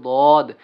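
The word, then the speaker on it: ضاد: তারপরে দদ, এই দদের হরফের উচ্চারণটা কিন্তু মোটা হবে।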